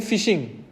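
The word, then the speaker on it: phishing: से related term है फिशिंग पी से होता है लेकिन पी एच आई एस एच आई एन G spelling एक बार आप बाद में चेक कर लीजिएगा फिशिंग इसको भी वही बोलते हैं जैसे फिशिंग बोलते हैं वैसे फिशिंग इसको भी इसमें क्या होता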